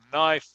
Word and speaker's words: knife: Any word, cualquier palabra que empieza aquí en inglés como knife, cuchillo o knight, que es caballero, no se pronuncia el que.